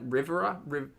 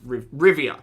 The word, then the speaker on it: Rivia: have silver witch eyes fruity of and I pronounce Rivera rivieria Rivera geralt of Rivia that's it foodie of Rivia not not like